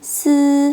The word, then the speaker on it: si: Z, C, S 뒤에서 I는 이 소리가 아니라 으 소리를 내실 거예요. ZI는 쯔, CI는 츠, SI는 스 하고 내실 거예요.